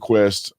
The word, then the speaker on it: KWESST: the executive chair of quest quest is spelled k-w-e-s-s-t and it's pronounced like quest like the internet company or the the cable